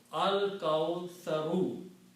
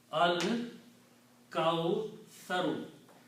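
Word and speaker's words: الكوثر: Sa is pronounced differently as tha.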